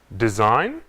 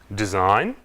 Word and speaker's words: design: Sign, design, foreign. Quando a letra G é ao lado do N, não pronunciamos. Sign, design, foreign.